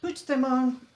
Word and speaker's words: Puigdemont: bomb yes which the moon it's nice CC which the moon and Alec salmon were in the plane together